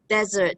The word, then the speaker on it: desert: about dessert and desert desert the pronunciation stress is on the first syllable dessert on the second